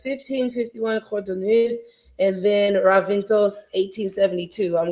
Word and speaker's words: Codorníu: Codorníu. Codorníu. Okay. So Codorníu. Codorníu. She's very heavy on that R.